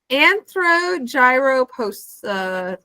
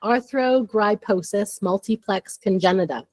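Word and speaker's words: arthrogryposis multiplex congenita: Anthro gyrous. Am I close? No. All right, fix me. It's arthro griiposis multipplex congenita. What she said right there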